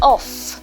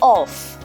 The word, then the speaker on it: of: Yeah, even though there's letter F here, okay, it is not pronounced as off, it is off. It is the voiced off.